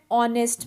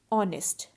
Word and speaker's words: honest: orange an umbrella an honest man and our now notice the word our and honest so in both these words h is silent so our and honest